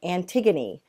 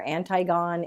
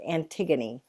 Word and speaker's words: Antigone: gonna start reading a play this week called Antigone that's how it's pronounced it looks like Antigone or anti GaN it's but but it's pronounced Antigone so I'll get used to saying it like